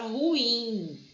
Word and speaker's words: ruim: Ó, quando eu pronuncio a palavra, eu pronuncio a palavra ruim. É uma palavra oxítona.